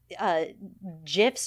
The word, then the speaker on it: GIF: The audience, the way that the world was, social media, GIFs or GIFs. I always forget how to say it because I'm an old lady. Hard G. GIF. That is it?